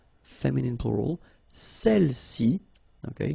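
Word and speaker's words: celles: all right feminine plural celi okay don't pronounce the final s Cel s all right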